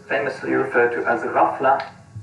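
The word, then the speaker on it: ghaflah: referred to as the rafa the gh sound is pronounced roughly like the french r it's a kind of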